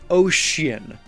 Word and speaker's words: ocean: Let's focus on the least used first, ocean. There are not very many words that have the C that makes the sh sound, at least not by itself.